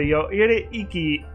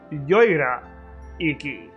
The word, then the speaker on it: Yoira Iki: The Yoire Iki... actually, I think I was pronouncing it wrong before. I think it's Yoira Iki.